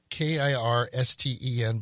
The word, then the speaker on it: Kirsten: It's Kirsten, but pronounced with an SH, Kirsten.